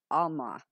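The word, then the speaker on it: עלמה: The word is pronounced Alma, feminine of 5958.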